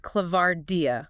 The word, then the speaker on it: ClavardIA: That's pronounced ClavardIA.